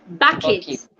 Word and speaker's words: bucket: that are two-syllable words most two-syllabic words that ends in k-e-t or p-e-t sounds it's carpet market bucket pocket jacket and so many